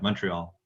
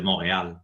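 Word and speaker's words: Montréal: if you if you there's two pronunciation for my my alma mater it's either the english one which is university of montreal or university de montreal in french but you know i'm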